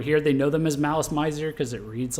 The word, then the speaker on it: Malice Mizer: friends who are really into them that it's malice miser uh so i'm i'm not uh so yeah